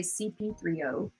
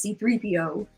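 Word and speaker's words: C-3PO: it's cp c3po that you have caused me to say that name wrong all the time because you always say cp3o it says c3po how many time the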